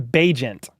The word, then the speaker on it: Bagent: It's number 17, Tyson Bagent. But it's spelled Bagent.